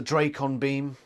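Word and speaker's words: dracon beam: tobias somehow steals a drake on beam yes it is pronounced drake on beam thank you michael grant he did post that on twitter he steals a drakon beam from attacks and it's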